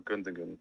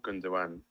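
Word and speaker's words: Gündoğan: I see you haven't gone for Gundogan or Gundogan, as you insist on calling him. Well, I insist on calling him that because that's the correct way to pronounce it.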